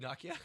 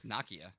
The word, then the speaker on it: Nokia: I learned how to say that word recently Nakia Nakia that's the that's the yeah it's the potato